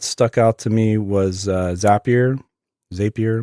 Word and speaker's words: Zapier: out to me was zapier as a peer not exactly sure how people pronounce it I say zapier because they have zaps it's their little widgets or containers of functionality and ends up your